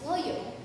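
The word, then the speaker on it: ngohiong: First one is ngoyong, and next one is suman. Ngoheyong, also known and pronounced as ngoyong, is a Filipino appetizer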